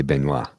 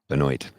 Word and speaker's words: Benoit: Benoit okay she's from Maine we would say benoa yes Benoit I used to work with a guy a